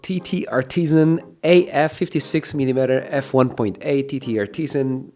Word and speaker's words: TTArtisan: TT Artisan uh rhymes with butician because this is a portrait l portrait lens and it does take beautiful portrait photos.